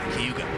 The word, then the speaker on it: Cayuga: But if you own the racetrack or are native to this area, it's a simple, nearly two-syllable word called Cayuga. This place should be nicknamed the Key because that's how it's said here, Cayuga.